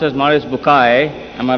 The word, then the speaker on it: Maurice Bucaille: eminent scientist and a scholar of quran dr maurice bukhail pronounced as maurice bukai am i right doctor doesn't matter okay uh